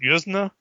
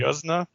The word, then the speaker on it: Yuzna: And then when the director, Brian, I think it's pronounced Yuzna, or Mhm. Yuzna.